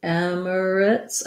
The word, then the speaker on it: Emirates: say i do say emirates i do say three syllables i don't go all the way to emirates emirates but this is quite reduced so it's close it almost gets down to two syllables red tent for the